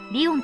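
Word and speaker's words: 理御: 理科の理に魚するの魚でリオンと読みます。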